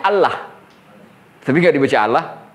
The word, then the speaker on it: الله: penyebutannya seperti itu karena penyebutan yang benar itu adalah Allah hanya pada kasrah saja